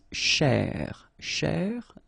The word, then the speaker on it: chercher: So this first part here, C-H-E-R, you will pronounce it quite open, so it's cher, cher. Okay, and then here, just because you've got this ER at the end, okay, if you remember, the rule goes like ER at the end will be pronounced E, okay, so you get chez, all right, so chercher, chercher, okay, and the